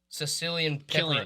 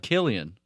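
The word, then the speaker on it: Cillian: topping Cong his name how do you say it Sicilian Killian really yes klian with a c klian he's only slian when he's being silly you're on one that's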